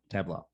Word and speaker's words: Tableaux: And the firm is Tableaux. Correct. Tableaux.